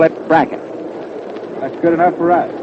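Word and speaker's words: Brecheen: h n a lot of folks call it pren but uh he says that he and his family call it bracket that's good enough for us I think the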